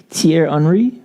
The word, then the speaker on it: Thierry Henry: They did that to, you remember on Thierry, I want to mess his name up, but Thierry Henry from France?